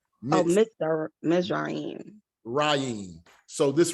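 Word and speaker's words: מצרים: Okay, so it's not going to be Mitzrayim, right? This is a closed syllable now, mitz, because this Shiva is now a placeholder for a vowel, but you're joining this mem and this zade together to form one syllable, mitz.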